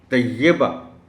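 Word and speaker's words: طیّبہ: کے معنی پاک ہیں، لیکن اس کے تلفظ میں یہ پر شد ہے اور اس کے نیچے زیر ہے، اسے ایسے ہی پڑھا جانا چاہیے۔ طیبہ اگر آپ کہیں گے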